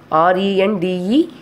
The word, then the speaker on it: rendezvous: RENDEZVOUS, but we are pronouncing as a rendezvous. These two are French words.